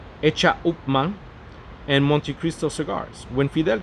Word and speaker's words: H. Upmann: Señor Garcia is the managing director of the Menendez Garcia Isiao Limitada, which manufactured the world-renowned H. Upmann, pronounced in Spanish, Hecha Upmann, and Montecristo cigars.